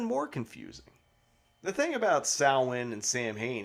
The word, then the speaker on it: Samhain: hurley who's irish says sal win so it just kind of adds to this whole vagueness but like for if you want to keep it real real pronunciation is salwin not samhain but if you're talking